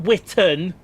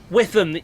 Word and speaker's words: Witham: Not Witten. Witham. Oh. Witham. Are they on? There's a 375 there. What was saying earlier? You kept saying Witten. It's spelt Witham, but it can be pronounced Witham.